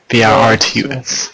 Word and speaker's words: Virtus: V-I-R-T-U-S.